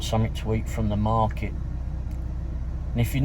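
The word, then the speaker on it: MRKT: then you got the market, which is spelled M-R-K-T. It doesn't have vowels in their name. It's called Market on Main, or M-R-K-T on Main.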